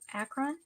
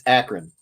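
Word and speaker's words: Akron: say that word again going where acon it's akan Ohio acon she makes it sound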